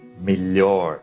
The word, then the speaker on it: melhor: Ele será pronunciado como li. Vocês vão substituir mentalmente por li. Vocês vão ver que fica bem fácil fazendo isso. Vamos lá. Melhor. Então, substituam mentalmente aqui por li.